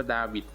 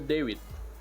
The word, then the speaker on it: David: เล่น นะ จาน David David หรือ ว่า อ่าน ว่า ดาวิด หรือ ว่า David ก็ จะ ประมาณ นี้ แหละ ครับ เอา เป็น ว่า ใคร ชอบ เรียก อย่า ไง ก็ เรียก ได้ นะ ครับ ผม นี่